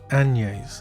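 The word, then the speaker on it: Agnès: So today I learned that her name is pronounced Agnes. Agnes. Agnes. Agnes. It kind of makes sense, but the G. Oh, I guess Agnes. Agnes. Agnes. It's a very strange pronunciation.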